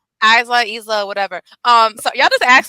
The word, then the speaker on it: Isla: I don't think I paid attention too much to Alba or Isla Dawn. That's how you pronounce her name. Isla, whatever.